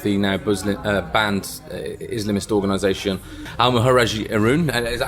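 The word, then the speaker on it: Al-Muhajiroun: first set up the now banned Islamist organisation Al-Muhajirun. Is that how you pronounce it? Al-Muhajirun.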